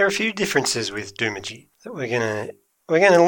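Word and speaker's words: Doomadgee: do you know about du Midi what I know is that everybody else pronounces it du Midi but it's actually de mogi don't wincing de mogi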